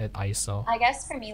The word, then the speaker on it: ISO: It's actually pronounced ISO, not you don't say it as an acronym. It's a word, right?